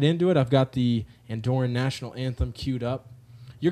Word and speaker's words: Andorran: call it an Doren do you call an Andorian and we looked it up and we believe that Andorran is the correct pronunciation can you guys confirm that yeah yeah